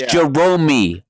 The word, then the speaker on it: Jeromey: do not come to jerome's place of worship place of business it's jeromey okay yeah yeah you're right